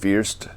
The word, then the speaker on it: First: This is a location where you go, and this is pronounced Fürst, or Grindelwald Fürst, even though it says first.